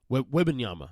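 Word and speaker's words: Wembanyama: best odds to get victim Yama how you pronounce that webinyama thank you we'll see how that plays out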